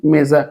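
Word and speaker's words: mesa: জয়ের মতো হবে যেমন মেজা আপনারা জানেন মেজা মেজা মানে হচ্ছে টেবিল এখানে কিন্তু এম ই এস এ এখানে মেজা উচ্চারণটা না হয়ে কিন্তু এটা কি হলো মেজা এবার দেখেন কামিজা মানে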